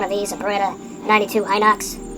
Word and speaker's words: Inox: A Betta 92 Inox or Enox. It's spelled I N Ox.